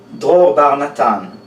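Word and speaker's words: Dror Bar-Natan: Dor Natan. Did I say that right? I didn't want to confirm. Draw Barnatan.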